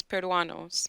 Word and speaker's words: Peruanos: El Peruanus? How am I supposed to pronounce that? I feel like I assume it's Peruanos.